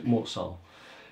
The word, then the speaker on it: Mort Sahl: Sometimes people pronounce it Saul, but Mort-Saul, who started at the end of 1953.